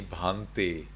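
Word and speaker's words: bhante: how you call me you call me bhanti bahante is not my name although some monks think that it's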